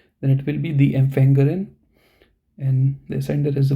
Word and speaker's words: Empfängerin: So you have to pronounce this part now. So it will be the Empfängerin. Okay, now you have to emphasize the R part.